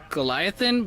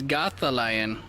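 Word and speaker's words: GothAlion: How do you say his name? I thought it was Goliathan, but it's not. It's Gotha Lion.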